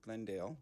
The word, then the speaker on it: Glendale: The oral pronunciation of Glendale with two syllables first out of Glendel with three syllables is not enough of a difference and will pose a challenge to emergency services.